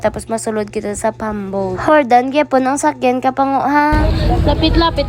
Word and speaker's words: Jordan: terminal Jordan terminal nan Jordan pa akong tawag pero ang pag-pronounce kapango is Hordan letter H po so nakita ninyo kapango